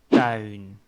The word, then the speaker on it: tuin: If you are sitting outside in your backyard or in your garden, that word is tuin.